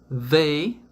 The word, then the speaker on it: they: They, a pronúncia com a língua entre os dentes, tá?